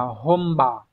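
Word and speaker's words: 本場: bản và chữ trường từ này đọc là hom B các bạn nha Các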